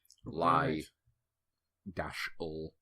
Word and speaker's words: Lyle: And there can be like some graphic that I'll put up, like, because obviously Lyle is not like Lyle, like Tate and Lyle, the sugar. It's like Lie dash L.